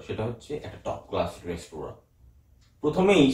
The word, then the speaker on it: রেস্তোরাঁ: এবার রেস্তোরাঁ, এটা হচ্ছে রেস্টুরেন্ট নয়, এটার আসল উচ্চারণ হচ্ছে রেস্তোরাঁ। বাংলায় যদি লেখা হয় রেস্তোরাঁতে একটা চন্দ্রবিন্দু হয়, কারণ নাকি সাউন্ড, ওটা নাকের ইউজ হয়।